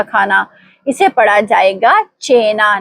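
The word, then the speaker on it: cena: काफ की नहीं।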